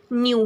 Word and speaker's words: knew: KNEW, न्यू का भी pronunciation या साउंड न्यू होता है.